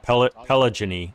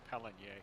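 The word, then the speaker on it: Péligny: I want to call it Pelagony, but I know that's not how you say it. It's Peligny. Peligny, thank you, Gyro.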